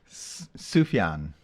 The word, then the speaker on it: Sufjan: I was gonna say the J is silent but it's really not silent it's a y um I do like that name yeah sufyan Stevens is an indie